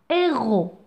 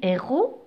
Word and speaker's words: héros: Donc vous voyez, héros, c'est un mot qui s'écrit avec S à la fin. D'accord? Le S ne se prononce pas. C'est une lettre muette. C'est un S muet.